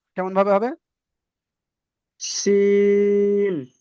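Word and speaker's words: سين: Scene. মাশাআল্লাহ, তাহলে এটা সিটির মতন হবে।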